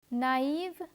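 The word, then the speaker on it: naïve: the second word - because of the diacritical mark over the letter I the letters A and I are pronounced separately let me give you other examples no an Israel naive and arrow in let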